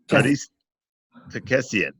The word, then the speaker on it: Aristakessian: And again, my guest today is Aristakessian. I am so going to butcher that. I'm so sorry. Aris, how do you pronounce? I'm sorry. Arista. Aristakessian.